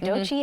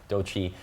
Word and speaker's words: Doechii: Okay, Doechii has been named Billboard's 2025 Woman of the Year.